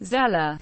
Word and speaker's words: Xela: indigenous population continue to call the city zaju pronounced shaa who or more commonly zela for short and some proudly but unofficially consider